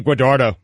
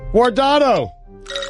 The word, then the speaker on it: Guardado: Eddie Guadardo. Easy, Eddie. Look at me now. I'm getting paper. You pronounced his name wrong. I did not. Guardado. Buffalo.